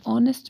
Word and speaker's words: honest: An honest man, the H is silent, so it starts with an O sound.